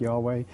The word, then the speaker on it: Yahweh: main god, who has the name Yahweh, pronounced something like Yahweh, but they also worshipped other gods as well.